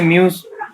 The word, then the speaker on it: mu: ये है म्यू, इसे म्यू प्रोनाउंस करते हैं, म्यू एम यू म्यू, और म्यूज इक्वल टू होते हैं आई ए वेक्टर।